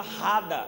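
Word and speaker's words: רדה: A palavra dominai é uma palavra que vem do hebraico, que se pronuncia Rada, R-A-D-A-H no final, que significa reine, governe.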